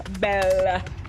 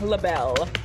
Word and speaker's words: LaBelle: That is Daniel Bell. Daniel LaBelle. I should say his name right.